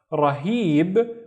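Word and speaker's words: رهيب: The first syllable is ra, and then heeb, heeb. Again, see these 2 loops, the he sound. Rahib, which means amazing.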